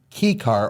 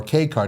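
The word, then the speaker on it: kei car: little bit bigger than your standard key car or K car, depending on how you pronounce it.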